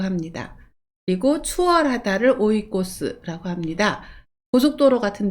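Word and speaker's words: 追い越す: 목적, 사실을 추구하다 할 때는 이 한자를 써서 찌규라고 읽습니다. 훈독은 오입니다. 쫓다, 추구하다를 오라고 하고요. 순풍을 오이까제라고 합니다. 그리고 추월하다를 오이코스라고 합니다.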